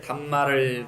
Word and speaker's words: 담마: 우리가 산스크리트로는 다르마 그러죠. 빨리어로 담마. 우리가 그래서 달마야중 그러죠. 달마야중이 바로 달마 대사를 이야기하는 게 아니에요. 그 담마를 가져왔는데 발음이 중국식으로 음역을 하는데 없어서 달마가 된 거예요. 담마라는 뜻이에요. 담마.